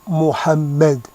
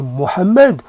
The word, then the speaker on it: Mohammed: Il peut aussi prononcer Mohammed, mais le français peut aussi même faire un effort et prononcer le ha un peu atténué, mais il peut, en prononçant le plus juste possible, démontrer qu'il tient à